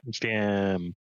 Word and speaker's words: Castien: But we communicate with the ship for a bit, find out that its name is, and correct me if I'm pronouncing it wrong, Castien? Yep. Castien.